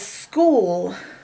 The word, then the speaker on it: school: School, which is another word that has a silent H. All these last few words we're doing here have silent H's in them, which is what makes them strange. We usually hear H's, but not in this case.